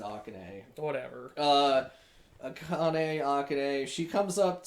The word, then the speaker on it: Akane: Well, they pronounce it Akane.